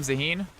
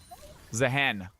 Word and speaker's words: Zahen: Is that not his name, Zaheen? Am I mispronouncing it? Or were you just saying that was a weird, questionable call by Zaheen to stay there right there? Zahen. All right. Fair enough. Like chicken.